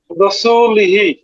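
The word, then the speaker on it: رَسُولِهِ: র পেশ রু। রপেশু হ্যাঁ, সিন পেশু সি লাম জের লি হা জের হি। কি হয়? রসুলিহি হ্যাঁ, এখানে এই যে হিতে কি নিয়ম পাওয়া গেছে বলতে পারবেন?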